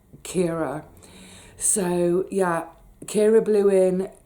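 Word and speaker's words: Ciara: Now, we pretty much all mispronounced this at the time by calling it Kiara. It wasn't. It was Storm Kira.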